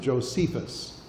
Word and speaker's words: Josephus: of the writings of a Jew named Josephus, or as some pronounce him, Josephus.